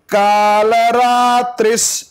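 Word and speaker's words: कालरात्रिः: महोदरी मुक्तकेशी महोदरी मुक्तकेशी घोर रूपा महाबला घोर रूपा महाबला अग्निज्वाला रौद्रमुखी अग्निज्वाला रौद्रमुखी कालरात्रिस, सकार को पहले उच्चारण करो, कालरात्रिस कालरात्रिस तपस्विनी तपस्विनी कालरात्रिस तपस्विनी कालरात्रिस तपस्विनी नारायणी नारायणी भद्रकाली।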